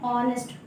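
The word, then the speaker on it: honest: इसको हम लोग पढ़ते हैं ऑनेस्ट, ओ से स्टार्ट होता है, ऑनेस्ट नहीं, एच जो है कि साइलेंट रहता है, तो यहाँ पे क्या यूज होगा?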